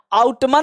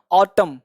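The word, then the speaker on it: autumn: आउटमन नहीं, ध्यान देना, इसको लोग आउटमन एन को नहीं पढ़ते, ये जो एन है ना इसको पढ़ा नहीं जाता है। ऑटम क्या बोलते हैं इसको, ऑटम।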